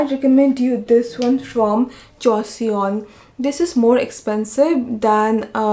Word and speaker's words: Joseon: So mineral oil can be cheaper than the oils they have used for this one, this formulation for Joseon. Sorry, Joseon. I always pronounce this brand's name wrong.